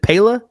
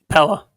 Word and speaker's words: Pella: from what is it Pala Pella Pella I've always said it wrong how do you miss